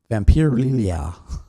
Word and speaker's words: Vampirella: I can't even pronounce it now. Bree, help me out. Vampirella.